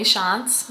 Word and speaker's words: Tschantz: I am Tschantz. Yes, the T is silent.